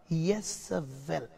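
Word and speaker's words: איזבל: யெசபேல், அதை நாங்கள் எபிரேய பாஷையிலே உச்சரித்தால் யெசவெல், சரியா? எபிரேய மொழியிலே யெசவெல், ஆனால் தமிழிலே யெசபேல் என்று சொல்லுவோம். அப்படித்தான் தமிழ் வேதாகமம் சொல்லுகிறது.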